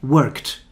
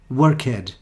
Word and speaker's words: worked: at more examples like that where you don't pronounce the e lived the next one is worked and again many people are learning english they make the mistake they say work head like started but don't be fooled by the